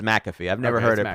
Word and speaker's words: Pat McAfee: He pronounces McAfee.